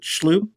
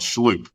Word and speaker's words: Shloop: That's how you pronounce it. Schloop. Yeah, it's called Schloop.